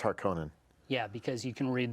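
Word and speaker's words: Harkonnen: haran right the atries they call it Harkin in the movie but that's wrong it's harkonen yeah because you can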